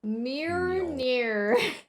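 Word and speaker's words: Mjölnir: Meerneer.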